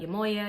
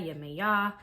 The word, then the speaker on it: Yemoja: to be talking about yamoya yamaya depending on where you are in the world you might say her name a little bit differently she is a Yorba